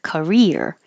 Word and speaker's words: career: And rear is higher and longer. Career. I have a career in Korea.